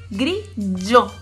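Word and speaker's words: grigio: Y el color gris, que se dice grillo. Grillo. ¿Sí? Como teníamos el giallo, tenemos el yo. ¿Sí? G-I-O es yo. Grillo.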